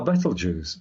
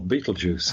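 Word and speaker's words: Betelgeuse: at the moment is the Star Battle juice or Beetlejuice you want to pronounce we talked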